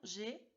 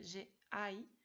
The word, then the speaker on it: j'ai: Os recuerdo la pronunciación, j'ai, no se dice j'ai ai, tu as, il, elle a, nous avons, vous avez, il, elle, ont.